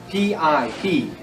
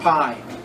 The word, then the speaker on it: pi: Not pie. In English, we say pie. I know we want to say pie when you see that sentence. It is. Remember, the I is pronounced like an E. It's P. All right, but it's spelled P-I, and it makes the sound of a P.